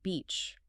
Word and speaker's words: beach: But because you fail to utilize the intense zygmatic smile and high tongue pressure required for the tense I, your mouth relaxes into the lax sound.